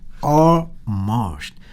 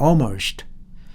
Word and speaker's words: almost: 여기에 L은 자, L 발음이 기본적으로 두 가지가 있는데요. 하나는 clean L 있어요. 그래서 L이 문장 앞에 나오면은 클리어하게 발음해 주는 거예요. 그래서 a lion driver's license. 자, 이렇게 a liar 그렇게 정확하게 발음해 주는데 중간에 나오면은 dark L 아주 말하자면은 어둡게 소리 나는 L예요. 그래서 거의 소리가 안 나게 들려요. 그래서 저것이 almost가 아닙니다. almost. 그래서 L이 거의 들리지 않아요. 그래서 almost.